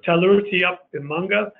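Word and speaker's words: Tallurutiup Imanga: of Canada's newest and largest protected area so teller rooty up in Monga is how this is pronounced a a new protected area in and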